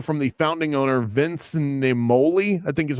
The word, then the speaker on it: Naimoli: He took over from the founding owner, Vince Naimoli, I think is how you pronounce it. Yeah, Naimoli.